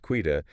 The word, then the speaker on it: Quita: Quita, and by the way, that's pronounced Quita, is stepping into a director-level position at M&G.